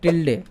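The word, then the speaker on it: tilde: से इसको कहते है टिल डे क्या कहते हैं टिल डे बटन इसका जो स्पेलिंग है टी आई एल डी ई टिल डे ठीक इसको टिल डे कहते हैं इसका यूज मैं आपको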